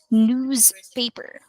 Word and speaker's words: newspaper: better to say new newspaper newspaper yes and yes okay now observe it's it's not actually the sound of s it's the sound of Z as well so newspaper newspaper